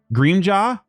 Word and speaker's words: Grimjaw: Grimjaw. How do you say it again, guys? Tell me. Greamjaw. Greamjaw? Yeah, Greamjaw. Oh, Greamjaw. Greamjaw.